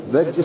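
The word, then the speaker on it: Bedřich: Bedjich Smetana. It's a little bit difficult. R. Yeah. Small accent. You put the tongue behind the teeth. Bedrich.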